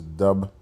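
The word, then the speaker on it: dubh: See in Dublin in Irish and Scottish Gaelic languages dub pronounced roughly as dub or dub means black or dark.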